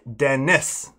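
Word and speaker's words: Denis: It's the first Dennis. French spelling, but English pronunciation.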